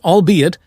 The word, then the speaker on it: albeit: The archaic word albeit does not rhyme with eight.